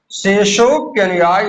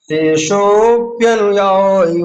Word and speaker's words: शेषोप्यनुयायी: शेष अपि को लिखा है शेषोपि, शेषो शेषो अपि अनुयायी वर्ग, उच्चारण करेंगे शेषोप्यनुयायी वर्ग। जब हम इसको गाएंगे तो बोलेंगे शेषोप्यनुयायी वर्ग, ऐसा बोलेंगे, ठीक है ना।